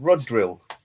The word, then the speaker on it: Rodrill: And he's called he's called Rodrill. Rod drill. Drill. Yeah. So, I don't know if they if they're trying to say road drill, but it's spelled R O D. So, it's like Rodril.